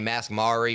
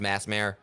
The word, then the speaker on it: Masmare: I mean, I've had people call me Masmari or Masumeare, and it's pronounced Masmare.